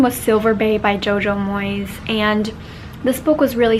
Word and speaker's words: Moyes: pronouncing her name wrong it's not Moyes it's Jojo Moyes like mo Y Z and I read two